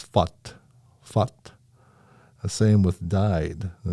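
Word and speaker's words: født: So, for example, the Norwegian pronunciation of born is foot, but the Danish version of born is fut.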